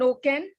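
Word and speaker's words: OCEN: go up and read rbi's press release on oken uh it's spelled o c e n uh excuse me it's called the open credit enablement network so go up and read about token what does okin do what does it mean for credit bureaus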